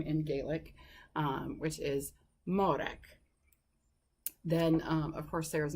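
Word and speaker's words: Mòrag: little tip on pronouncing it some tips on pronouncing some of those Gaelic names starting of course with modak so that is Sarah's name in Gaelic which is modak then of course there his mother named her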